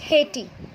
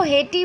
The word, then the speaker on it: hate: We are not saying it like hatey. Okay. हम उसको हेटी नहीं बोलेंगे, हम क्या बोल रहे हैं? हेट. तो लास्ट में टी का साउंड आ रहा है और ई साइलेंट है, तो ई स्पेलिंग लिखने में आएगा बट बोलने में नहीं आएगा.